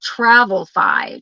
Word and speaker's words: Travelfi: Oh, it's spelled Travelfi. Travelfi. Oh, no E. Travelfi.